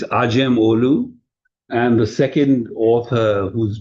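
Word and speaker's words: Acemoğlu: be pronounced aim olu where the C in Turkish is a J, but most people mistakenly call him Amam Olu. So it's Ajam Olu.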